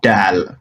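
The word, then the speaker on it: د: first letter here D so it's similar to the D sound in English language for instance if you have um D dog right so this first letter there it's exactly the same thing as what we have here D okay Dal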